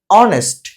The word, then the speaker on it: honest: অর্থাৎ আমি যদি একটা ওয়ার্ড আপনাদেরকে লিখে দেখাই, ফর এক্সাম্পল HONEST, এটার উচ্চারণ আমরা জানি এইস অ্যাজ আ লেটার একটা কনসোনেন্ট, বাট এই শব্দটার উচ্চারণ হচ্ছে অনেস্ট।